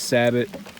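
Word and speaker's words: sabot: we can't do right I say Sabo he says sabbot Sabo everybody gets worked up over how to pronounce it it's a thin ring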